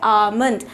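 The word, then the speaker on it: almond: हम लोग इसे प्रोनाउंस करेंगे आलमंड। यहाँ पे ध्यान रखने की बात यह है कि एल कहीं भी नहीं आया है।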